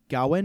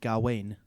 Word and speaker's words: Gawain: sir gawain gowan gawain so i think there's two pronunciations gowin and gawain okay uh and so